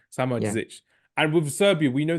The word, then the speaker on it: Samardžić: Yeah, the D and the Z at the end is crazy. Yeah. Samardžić.